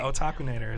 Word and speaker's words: Otakunater: Did I say it right? Yes, you did. Okay. Otakunater is how you say it.